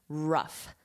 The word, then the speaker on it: rough: This is how I would spell it phonetically, rough. So you have that F at the end, rough, rough, rough spell.